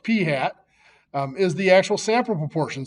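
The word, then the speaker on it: p̂: P hat, that little hat over the P is pronounced P hat, is the actual sample proportion.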